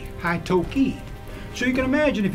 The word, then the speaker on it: Atoka: he got the name Haitoki. Or that's the correct pronunciation, but it's called Atoka. Atoka now.